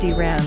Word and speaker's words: DRAM: and static Ram SRAM drum pronounced dram is widely used as